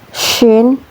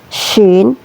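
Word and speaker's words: ش: Syin tebal seperti mengusir ayam ya. Cara melafalkannya seperti mengusir ayamin begitu ya, Teman-teman.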